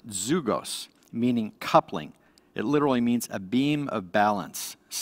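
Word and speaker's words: ζυγός: The Greek word for yoke is pronounced zugos, meaning coupling.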